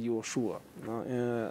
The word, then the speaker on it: Иешуа: Иешуа, вообще-то, он читается Иошуа, Нахон.